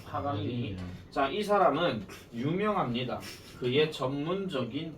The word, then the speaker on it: 파가니니: 딱 나온 상태에서 637번지 발음이 좀 힘들긴 하지만은 빠가니니 아 요한 거 아닙니다 사람 이름입니다 파가니니 자이 사람은 유명합니다 그의